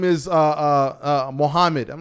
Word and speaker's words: Muhammad: is uh uh uh mohammed i'm like your name is not muhammad bro like your name is mohammed and they'll laugh and